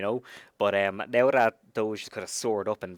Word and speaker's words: Doge: familiar am I saying it right is it Doge or Dodger it's a doge like d o HJ that kind of pronunciation y Doge or j h do h